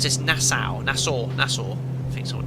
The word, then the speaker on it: Nassau: How do you pronounce this? Nassau.